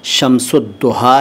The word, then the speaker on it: Shamsudduha: है कि यह शब्द शमसुद्दूहा है बता देता हूं ध्यान से सुनिए देखिए दोनों उच्चारण दोनों तलफ्फुज सही हैं अगर आप अरबी अंदाज में पढ़ें तो यह शमसुद्दूहा हैं तो यह शमसुज्जमां का